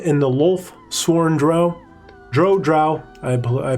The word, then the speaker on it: Drow: Drow, I pronounce it Drow, and therefore that's how it's pronounced.